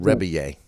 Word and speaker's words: Rebillet: reier it looks like it looks like it's spelled rebillet uh but it's yeah rebit yeah it's French and you'd say it reier reier okay yeah I I